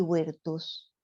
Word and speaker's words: virtus: Y lo pronuncié mal porque la B corta se pronuncia U en latín. Virtualis y virtus.